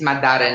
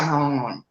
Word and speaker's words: Madara: It's Madara. Now I know. I always said Nisha Manhala because because I never knew how you pronounce it, like whatever.